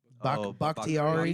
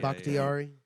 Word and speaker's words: Bakhtiari: Bakhtiari. Yeah. Bakhtiari.